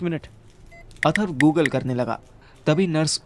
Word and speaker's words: अथर्व: अर्थव किसका नाम है? अर्थव किसका नाम है यहाँ पर? अर्थव? अर्थव नहीं, अथर्व हूँ मैं।